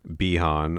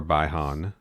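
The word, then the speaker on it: Bi-Han: show is sub-zero one bihan or baihan depending on let's go with bihan for the sake of our own internal consistency i'm going to stick to the bihan pronunciation because it's certainly what i'm used to but i do not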